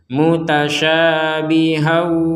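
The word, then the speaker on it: مُتَشَابِهًا: mutasyabihahum baik diulangi lagi kalau kita berhenti di mutasyabih ya maka kita membacanya mutasyabiha menjadi satu harakat bukan dua harakat kalau kita melanjutkan akan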